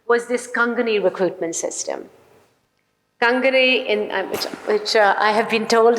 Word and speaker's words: Kangani: Kangni, which I have been told is the correct pronunciation, stands for overseer.